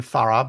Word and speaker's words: Farah: It's written Farah, but it's pronounced Far.